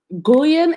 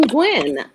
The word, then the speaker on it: Guyn: is mrs dr gulian am i pronouncing your name correctly it rhymes with twin i'm married to a twin so it's quinn oh it's gwynne okay and guinn is a relation a